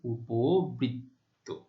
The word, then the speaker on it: উপবৃত্ত: আরেকটি উদাহরণ দেখো, তাহলে মধ্য অ উপ, মধ্য অ হচ্ছে প, তারপরে রিকার রয়েছে, তাহলে প এর উচ্চারণ কিসের মতো হবে, ও এর মতো। প এর সাথে যে অ রয়েছে তার উচ্চারণ ও এর মতো হবে, সেই অনুযায়ী উপবৃত্ত।